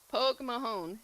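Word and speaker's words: Pogue Mahone: Poke Mahone. That That's how you say it. Well, you probably say it with a little bit thing. I'm saying it with a southern accent, but uh yeah, Pog Mahon.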